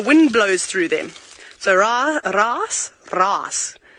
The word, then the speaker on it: raasblaas: So raas. Can you say that word properly, Jean-Drake? Ras. You must roll your R when you say it. Means noise.